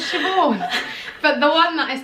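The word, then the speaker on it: Siobhan: used to be like i used to spell it literally what it looked like a sigh over but really it was shivore but the one that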